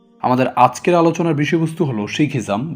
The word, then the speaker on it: শিখ: শিখ নামে প্রচলিত হলেও এই শব্দটির সঠিক উচ্চারণ হবে শিখ।